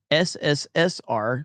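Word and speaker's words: СССР: CCCP is USSR and pronounced SSSR, says Zinny Biscuit.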